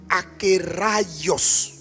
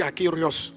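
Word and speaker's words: ἀκέραιος: Donc on prononce akios. Bon souvent moi je m' je me trompe, je dis akéos.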